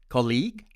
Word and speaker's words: colleague: often at our workplace my friends from india tend to pronounce it as colleague colleague with stress on the second syllable and my american friends would pronounce it as colleague colleague with stress on the first syllable once again there is no right or wrong just different our second word is